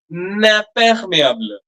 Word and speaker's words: imperméable: That first M, madam, I am, that M is also nasal, huh?